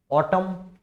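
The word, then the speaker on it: autumn: कुछ famous words हैं, ऑटम, यहाँ पे एन साइलेंट है, सोलेम, कंडेम, हिम, उसके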